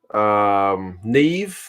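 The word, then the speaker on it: Niamh: like MacGyver was in the chat very cool pronounced Owen okay Irish names are tricky like I got Siobhan down Nev like the N I am H I'm getting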